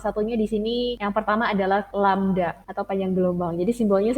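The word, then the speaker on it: lambda: ada yang sama tapi ini dibacanya lamda gitu dan dia menyimpulkan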